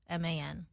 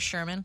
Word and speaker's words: Scheuerman: It's Scheuerman. So Well, damn. Scheuerman. Scheuerman. But we just go with Sherman.